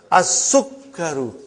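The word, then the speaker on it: السُّكَّرُ: As-Sukkaru.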